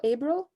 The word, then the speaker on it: Ebro: Ebro.